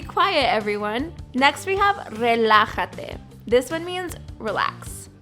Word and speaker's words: relájate: Next we have relájate. This one means relax. That J that you see there in the word is pronounced like the English H sound.